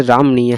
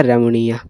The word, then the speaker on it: रमणीय: ठीक ना क्योंकि देखिएगा रमणीय तो होगा नहीं इस प्रकार से रामनीय है तो र का तो उच्चारण आएगा नहीं और रमणीय है तो यह होगा नहीं क्योंकि इसमें बड़ी नी का उच्चारण है और इसमें यह वाला तो ऐसे भी नहीं होगा तो यह हो जाएगा रमणीय चलिए अगला प्रश्न में देखेंगे।